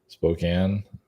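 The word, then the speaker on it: Spokane: we have this I don't know how to pronounce spoken spoken spoken Spokan anyway it's a city in uh Washington Spokan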